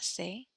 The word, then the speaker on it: ses: His or hers, son, sa, ses. Our, notre, nos. Your, plural or formal, votre, vos. So we do not pronounce the s's here.